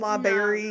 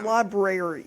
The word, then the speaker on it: library: oh I don't like and liberry Liber I can't no it's Library yeah I don't like